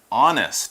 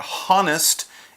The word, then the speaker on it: honest: and the adjective is honest and that's our next word power word honest is spelled H o-n-e s th ou and est but you don't really say the H it's not honnest it's honest and then Timmy says